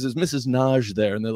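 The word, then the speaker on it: Nagy: called up knowing that it's a hungarian name and that in hungary it's pronounced naj and so she uh she says there's mrs naj there and they're like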